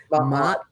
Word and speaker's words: Ma'at: Ma'at.